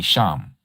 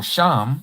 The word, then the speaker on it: Shem: So, Shem, who they call Shim, because there is no E in Hebrew, and that's probably why you have an issue with what I'm sharing, WPS.